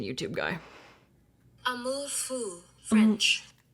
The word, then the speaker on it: Amour Fou: Where's the pronunciation, YouTube guy? Amour Fou, French. Amour Fou.